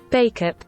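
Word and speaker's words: Bacup: Is it bakeup? Bakeup. That's American. British. Bakeup. Oh, it is Bakeup.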